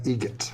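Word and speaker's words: Eggert: How do you say the name? Adam Egget. Egget. Spelt differently. Like the bird. That's Egret.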